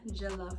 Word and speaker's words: jollof: This is Nigerian jollof rice.